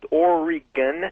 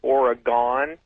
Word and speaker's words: Oregon: Um, I'd first like to tell everybody it's pronounced Oregon, not Oregon.